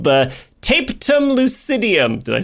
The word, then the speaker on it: tapetum lucidum: I've heard so many people pronounce it so many different ways. I say the tapetum lucidum, but maybe that's tapum lucidum. That sounds way better.